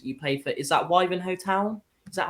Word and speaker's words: Wivenhoe Town: Is that Wivenhoe Town? Is that how you say it? Wivenhoe Town.